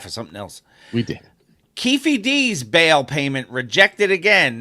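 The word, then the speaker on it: Keffe D: right now so and I was pronouncing it wrong the whole time I found out it's Kefi not ke yes kefy D so Kefi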